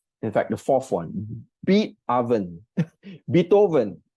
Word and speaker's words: Beatoven: In fact, the fourth one, Beatoven. Beatoven. You know Beethoven, the composer? So yeah, that's why I think that's how it's pronounced, Beatoven. But I like to call it Beatoven.